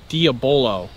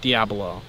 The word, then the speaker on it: Diabolo: Now before anyone goes and corrects me on the pronunciation, this is Diabolo, not Diabolo.